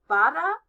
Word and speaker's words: Bharatanatyam: Bharatanatyam. How many syllables is that? That's right. 5. Bharatanatyam.